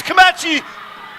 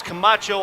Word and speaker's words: Camacho: Here comes Camachi, and he saves it on the slide. Excuse me, I'm saying his name wrong. It's Camacho, I believe.